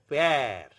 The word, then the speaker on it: père: But whenever aksa grave is used on E, it becomes the more flattened pronunciation. Père, mère, frère.